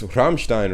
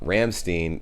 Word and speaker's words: Rammstein: called like i'm like it's it's ramstein right like not ramstein ramstein sounds so ah gross